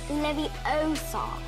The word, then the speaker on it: Leviosa: someone's eye out besides you're saying it wrong it's leviosa what a great